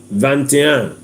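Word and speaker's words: vingt et un: you come to 21 you will take 20 you take a conjunction if you call it and that conjunction is spelled as it then one you you not take it you have vanan v i n GT space e t space u n vanan now when you come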